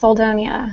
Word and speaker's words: Soldonia: gentlemen uh selonia did I get did I get the pronunciation right yes selonia s all right